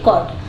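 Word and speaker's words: caught: होता है पकड़ना तो टी के पहले अगर जी एच हो तो वो हमेशा साइलेंट रहता है जैसे कि कॉट चेस्ट ठीक है तो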